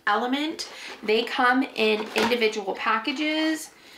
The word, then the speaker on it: LMNT: So I have been using almost daily my LMNT, which is pronounced element.